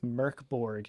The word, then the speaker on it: Mörk Borg: Oh no, we are playing an indie RPG called MÖRK BORG, or I believe MÖRK BORG is how it is actually pronounced in It's called MÖRK BORG.